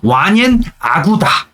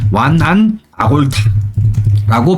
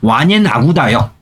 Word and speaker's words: 완옌 아구다: 그래서 완옌 아구다. 한문으로 음차한 게 뭐야? 예전에는 뭐라 배웠냐면 완안. 한문으로 음차한 게 완안 아골타라고 배웠어요. 예전에. 저희 때는 그렇게 배웠는데 지금은 원어 발음에 가깝게 발음을 쓰죠. 완옌 아구다요.